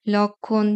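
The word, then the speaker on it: লক্ষ্মী: সাথে যখন ম ফলে যুক্ত হবে তখন তার উচ্চারণ হবে না যেমন সূক্ষ লক্ষণ যক্ষা লক্ষী এরকম পাঁচ নাম্বার নিয়মটা হচ্ছে ম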